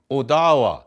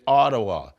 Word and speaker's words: Odawa: people pronounce it Chippewa Odawa some people say Ottawa Board where are the